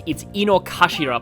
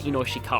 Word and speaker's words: Inokashira: Also, I pronounced this wrong last time, it's Inokashira Park, not Inoshikara.